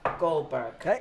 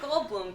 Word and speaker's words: Goldblum: a beautiful venue the very very funny Jeff Goldberg about him um on air and introducing him